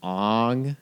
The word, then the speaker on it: Aang: than the show honestly i like that they pronounced as ong instead of aang oh really they did